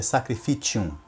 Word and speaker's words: sacrificium: E realmente vem do latim, porém eu pronunciei errado a palavra. Eu disse que é sacrificium, mas não é sacrificium. No latim, a pronúncia certa é sacrificium, ok?